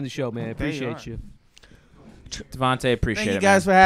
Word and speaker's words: Devontae: Before I go, guys, it's Instagram and Twitter is at Devontae, at Devontae. Spell that.